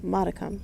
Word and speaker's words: modicum: Oh, modicum. So, that is the correct pronunciation.